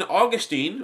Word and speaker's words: Augustine: what TR even even Augustine or Augustine depending on how you pronounce it who is basically